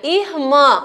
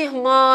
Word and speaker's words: irmã: A outra palavrinha, irmã, ó como esse irmã aí, ele é nasal.